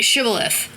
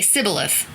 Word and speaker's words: Shibboleth: If he said no, they would tell him, "Then say Shibboleth." But he would say Sibboleth, because he couldn't pronounce it correctly.